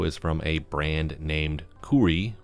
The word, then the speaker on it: KOORUI: from a brand named kuri from what I've seen online that's how you pronounce it but I haven't found